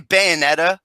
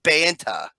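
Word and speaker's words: Bayona: pronounce the last name I keep saying Bayonetta it's it's Banta I think that's a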